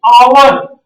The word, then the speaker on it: hour: 80 miles dot dot hour on the motorway। देखिए सर जी, आवर इसको अ से पढ़ते हैं, आवर। एच ह के तरह इसका उच्चारण नहीं होता है, अ के तरह होता है, स्वर वर्ण के तरह होता है।